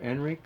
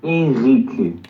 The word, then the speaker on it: Henrik: So as you do this, Henrik, how do you say your name exactly? Henrik or Enrik or Henri? I say it Enrique, but you can say that.